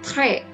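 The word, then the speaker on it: très: bisa menggunakan premium ya Ini bacanya trek ya es di akhir tidak dibunyikan kemudian ini dibaca biang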